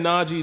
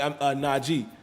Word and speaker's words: Najee: king x minty says they keep saying naji name wrong like isn't even hard to say yeah it's not g man and he made it very clear you know even before the season is not g g but everybody says najee